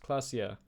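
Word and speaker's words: Klaasje: Clasia is pronounced Clasia.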